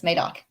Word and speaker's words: Madoc: A lot of the comments are asking you to pronounce Madoc correctly. Madoc. Yes, Madoc.